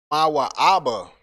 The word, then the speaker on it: Moab: Moab is pronounced Mawa'aba.